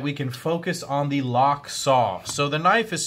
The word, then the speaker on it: Lochsa: here so that we can focus on the lock saw so the knife is spelled L o CH si but it is pronounced locks oo l as in LOC que si W and